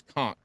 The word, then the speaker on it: conch: what fishing conch it's conch okay whatever Paul I'm not I'm not arguing with you the CH is a k Cas Paul I'm not